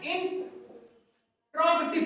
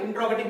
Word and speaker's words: interrogative: तीसरा जो हमारा प्रोनाउन का टाइप है वो है इंट्रोगेटिव प्रोनाउन।